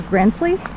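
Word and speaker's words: Grandtully: we are coming into Grand Le for Grell the gentleman I just passed pronounced it as grantly so there we go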